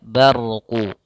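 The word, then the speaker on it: برق: diwakafkan maka di sini bnya menebalkan huruf ra tidak dibaca bar tapi dia barqu rnya tebal maka yakadul barqu kemudian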